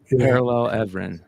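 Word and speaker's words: Paralel Evren: Is it Parallel Everlyn? Parallel Everin, yeah. Parallel Everin. Okay, you said it right.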